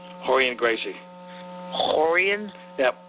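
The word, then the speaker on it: Rorion: And then Hixon and Hoist, but they're all spelled with Rs, but they pronounced R like H for some reason in Brazil.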